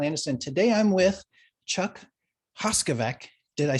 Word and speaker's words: Hoskovec: again i'm scott anderson today i'm with chuck hoskovec did i say it right you did you